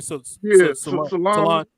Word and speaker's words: Solange: How you say her name? Solange.